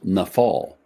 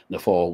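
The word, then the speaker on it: naphal: verb uh and and the the word is pronounced nafal and the English spelling is n a p h a l nef fall which means to to fall or to fall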